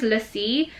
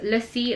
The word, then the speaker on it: Lassi: His name is Lassie, and that is Lassie like the drink, the Indian drink, not Lassie as in lassie like the dog, okay?